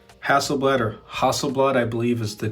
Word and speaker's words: Hasselblad: So we're greeted with 11 right up here, OnePlus X Hasselblad, or Hasselblad, I believe is the correct pronunciation, Hasselblad.